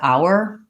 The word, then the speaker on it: our: but it's true that the word our technically is pronounced this way in running speech it's often reduced to more of an r sound so i didn't